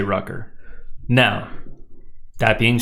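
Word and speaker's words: Røkkr: The correct pronunciation being rucker. With rolling R's.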